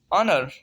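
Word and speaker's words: honour: एच जो है silent है, हम प्रोनाउंस करेंगे कहाँ से, ओ से, ऑनेस्ट, ऑनेस्ट ईमानदार। ऑनर, ऑनर मीन इज्जत।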